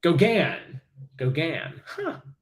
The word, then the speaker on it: Gauguin: Picasso Renoir uhurer DeSean let's see how to pronounce algon Paul Gauguin Gogan okay Paul Gauguin that is not how